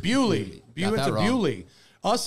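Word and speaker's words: Beaulieu: But we went to a car museum yesterday called, how do you pronounce it? Bewley. Bewley.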